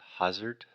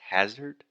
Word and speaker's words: hazard: i believe alexis said hazard or something like that so that first sound is the ah just like dad master disaster so the correct pronunciation is hazard and then finally alexia